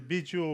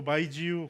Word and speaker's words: baijiu: Entonces, la base de estos productos, y de China, que tenemos Biju, es el Biju o Baijiu, como según la pronunciación china.